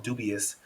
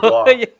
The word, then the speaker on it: Dubois: I call them dubious, and you said Oh, Dubois.